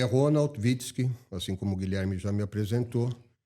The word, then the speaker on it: Witzke: É isso mesmo que se pronuncia? Witzki.